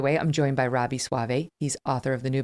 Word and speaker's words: Soave: joined today by robbie suave it's a fun last name because it's spelled s-o-a-v-e so you're like sove soav but it's suave and he's senior editor